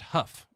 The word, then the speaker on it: Hough: It's pronounced huff. You huff a horse.